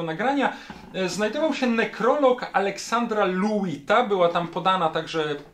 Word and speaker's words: Lewyt: znajdował się nekrolog Aleksandra Luita, była tam podana także, podany był także sposób wymowy tego nazwiska, konstruktora, wynalazcy, w cudzysłowie ojca odkurzaczy Luit, z których, tak jak powiedziałem, w latach 50.